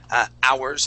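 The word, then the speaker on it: hours: Just like ours, okay, we do not pronounce the H. We say ours and not ours.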